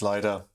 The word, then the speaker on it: Lido: how to pronounce because we don't know whether it's Lido or Lido. Apparently it's Lido.